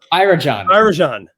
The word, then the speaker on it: Arjun: Well, I think we should dive into Arjun. Did I pronounce that right? Arjun.